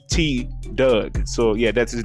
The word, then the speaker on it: Tdugg: to t doug now i was saying t doug name wrong uh in the video bro i was like t-thug so i don't know he he may have seen that uh if you do man i'm sorry about that bro i pronounced your name so wrong man but yeah uh his name is t doug so yeah that's his